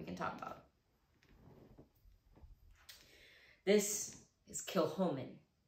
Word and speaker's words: Kilchoman: bottles here we can talk about this is kilhomen kill holmen next one we have is the chick the